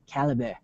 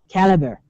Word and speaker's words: Calibre: uh it's it's it's not Calibre I watched the video by the developer and he called it Caliber Caliber and he also spells